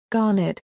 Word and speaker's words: Garnet: fallen out of use, Garnet, pronounced locally with the second syllable accented, unlike the pronunciation of the stone.